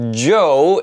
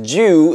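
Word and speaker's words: Chu: Moon drop Joe is what I was told is supposed to be pronounced or you can read it as Jew if you want to read it western style DSP I am 25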